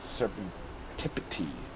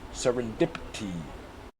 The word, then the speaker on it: serendipity: Serpentipity. Serendipity. Serendipity. I think it's serendipity. Huh? What? Seren. There is a seren in there.